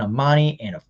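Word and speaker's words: Amani: have quentin dunbar and armani is technically how you're properly supposed to pronounce it and uh mike ford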